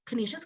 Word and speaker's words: Canisius: about our college um we are our school pronounced canisius college and we were founded in 1870 by